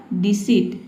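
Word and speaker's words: deceit: सी letter आया है। तो यहां पे जो इ आई है इसको हम ई पढ़ेंगे। देखिए डी ई का हो जाएगा डी। सी का हो जाएगा स और इ आई का हो जाएगा ई। ठीक है? ई। टी का ट हो जाएगा। ये हो जाएगा आपका डिसिट।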